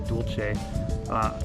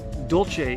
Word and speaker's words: dolce: was called the ahi dual che Dolce is the Italian pronunciation dual C is the Puerto Rican pronunciation D you LCE it